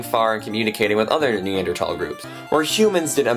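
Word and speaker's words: Neanderthal: at is neander TS and yes it's actually pronounced neander tal I know it's weird but it makes you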